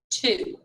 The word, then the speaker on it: two: when you read to you have to remember to not pronounce the w so act like he's